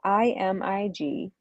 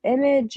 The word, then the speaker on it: Imig: It's IMIG. It's pronounced Imig, but people say, is it Imig? Is it Image? Is it?